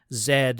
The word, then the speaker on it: Z: years i didn't then understand that zed was how you pronounce the letter z depending on where you live i guess you had